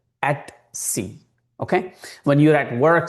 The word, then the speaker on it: etc: At c etc or at c the professionals would always pronounce as at c.